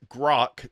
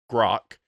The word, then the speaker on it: Grok: country songs as provided to us by both Grok. That's how you pronounce it, JR. It's Grok.